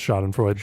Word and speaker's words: Schadenfreude: Pretty sure it's Schadenfreude.